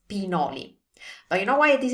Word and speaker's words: pinoli: Now, what I've heard a lot is this word pronounced as pignoli. So with a GN sound, or a pignoli. So with a GN sound, like there were a G. There's no G there, so it's pinoli.